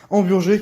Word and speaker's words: hamburgers: Pour commencer, nous allons avoir le droit aux fameux 2 paquets de hamburgers, hein, parce qu'on le prononce à la française, hamburgers qui se réchauffent en 1 minute 20 au micro-ondes.